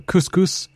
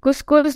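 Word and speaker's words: cuscus: Just want to make sure that is couscous not the same couscous as a food in India? Yeah, not the rice. So it's spelled C-U-S-C-U-S.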